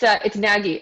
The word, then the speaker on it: NAGI: And Alysha, it's NAGI. A lot of people pronounce it incorrectly because it is NAGI, but you know what?